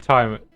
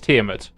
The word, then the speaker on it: Tiamat: Always said Tiamat. Okay, so Bones says the same as me, but it's Tiamat.